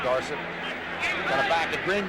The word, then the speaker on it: Dorsett: Tony Dorsett, of course, wants to be pronounced Dorsett.